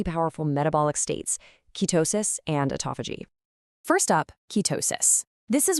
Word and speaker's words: autophagy: It's pronounced autophagy.